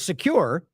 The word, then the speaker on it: Socure: Now it says Secure. So that's probably right because it's like a play on secure, Socure.